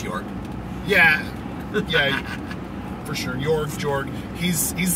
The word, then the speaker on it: Jorg: Jorg is like this, well, I pronounce Jorg.